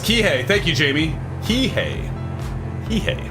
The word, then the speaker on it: Kihei: so fun fact i guess but it's pronounced kihei thank you jamie he hey hey okay well